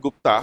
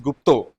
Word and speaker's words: Gupta: all he is not Gupta he's gupto basically it's a Bengali surname so like Das Gupta